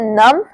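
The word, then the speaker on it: numb: एक फैक्ट है कि जहां पर भी एम भी साथ में आ जाए तो वहां पे मोस्टली जो बी वर्ड होता है वो साइलेंट ही होता है तो आपको बोलना है नम नम एंड क्लाइम क्लाइ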